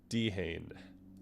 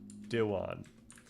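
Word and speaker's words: Dehaene: It's a dehane or dwan. Dwan though uh PCI is primarily associated with the uh Yep.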